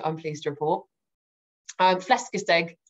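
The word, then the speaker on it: flæskesteg: pleased to report um flesca's egg is how i've been told to pronounce it i've been practicing that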